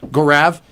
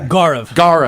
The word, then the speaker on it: Gaurav: Gorav. Crash and burn. I'm 0 for 2. Just on the inside. Gaurav. Let's see. Yeah. Gaurav. There we go. I gotta get that first syllable.